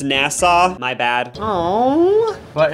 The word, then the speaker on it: Nassau: were being Rock to sleep we're in the nasu Bahamas I guess it's pronounced Nassau my bad oh but it's time to see